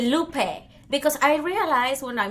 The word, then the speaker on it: Lupe: Because I realized when I moved here that a lot of American people say Lupe. And I'm like, dude, that's not how you say it. Yeah, that's how. So Lupe, she pronounced it correctly.